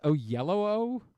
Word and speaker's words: Oyelowo: Apparently, it's actually pronounced Oyelowo. Oh, really? I've never heard it. Oyelowo. I mean, I guess that's how it looks. It does look that way, but I could have sworn I've heard it pronounced.